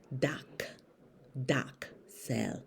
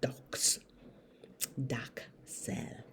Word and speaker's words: Dachsel: beware okay care Indo my name is not spelled D o x e l it's spelled d a c h s e l dock docks dock doc cell not docks doc cell and I'm not